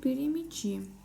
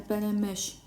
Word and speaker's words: перемяч: Щ произносится не так, как в русском языке, а не перемеч, а перемеш.